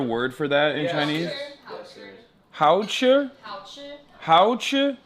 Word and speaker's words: 好吃: Hao chi? Hao chi? 好吃. If very delicious, you say 好好吃. Oh, dude. Oh. Yeah. 好好吃 means very delicious. Mm. Yeah. Hao chi?